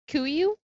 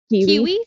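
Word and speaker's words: Kuiu: Kuyu? Kiwi?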